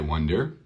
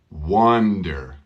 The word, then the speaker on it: wonder: I not invited I wonder listen to this was Wonder was Wonder okay Wonder so yes it sounds exactly like one one der Wonder thank you I prefer